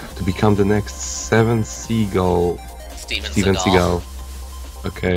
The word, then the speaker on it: Seagal: You, Sensei, that's your ultimate goal, to become the next Steven Seagal. Okay. Although it is spelled like seagull, which is weird.